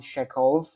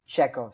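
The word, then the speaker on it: Chekhov: instance there was Anton Sheekov am I saying his name Right. Anton Czechov.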